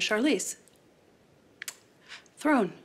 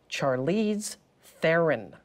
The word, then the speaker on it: Charlize Theron: my very good friend Charlize thrown it's pronounced Charlize Theron's my research had shown